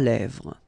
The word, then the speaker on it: lèvres: Final S not pronounced. Lèvres, okay?